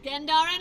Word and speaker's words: Gendarran: There seems to be a lot of debate whether the beginning of the word should be gen or gen, followed by whether it's dar or dare, such as Gendarran Fields.